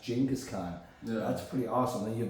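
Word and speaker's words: Genghis Khan: people no it's jingus Khan I'm like wait gingas Khan so the whole time gingas Khan gask Khan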